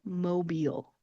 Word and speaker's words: Mobile: If you listen to my pronunciation, you can hear that soft eel sound that I'm making at the end of the word. It is not aisle, instead it's eel.